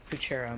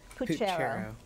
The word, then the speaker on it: puchero: Puchero, may I have the definition, please? A Latin boiled dinner of or stew containing beef, sausage, bacon, and various vegetables. Puchero.